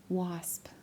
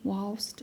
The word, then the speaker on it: wasp: with that wasp, but wasp. Where I grew up, it was not pronounced wasp. W. It's pronounced was w a l t. Walst.